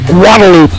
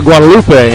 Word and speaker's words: Guadalupe: Prime examples locally: Austin's Man Shack for Manchaca, San Jacinto for San Jacinto, and Guadalupe for Guadalupe, among many others.